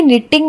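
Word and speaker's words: knitting: अब देखिए कि निटिंग में के और दूसरी टी का उच्चारण नहीं हुआ, बोलने में निटिंग ही आया।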